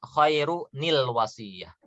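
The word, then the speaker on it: خيرٌ الوصية: Nah, nanti ya, kalau kita mau baca dengan disambung, maka kita bacanya khairu nil wasiyah. Khairu berarti domah yang pertama tetap ada. Nah, domah yang keduanya yang dia itu tanda tanwin akan berubah jadi nun sukun di bawah.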